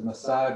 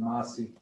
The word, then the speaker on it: Masi: They often pronounce it as Masai, but we pronounce it Masi.